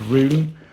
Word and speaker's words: Rhune: I think it's pronounced Rhune, and it's, you know, spelled like that, Rhune.